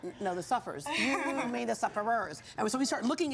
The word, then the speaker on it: Suffers: when we originally started we were called the sufferers and the sufferers is actually the correct way to say it but it's not the